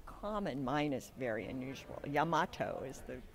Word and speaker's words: Yamato: i have the very talented and lovely yamamoto did i say that right yamoto no wait yamato too many m's yeah because that's common mine is very unusual yamato is the correct pronunciation okay i followed yamato